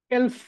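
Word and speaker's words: elf: মানে হচ্ছে 11 হ্যাঁ 11 কে তারা বলেছে এলফ এলফ এলফ এলফ এলফ এলফ মনে রাখতে হবে এটাকে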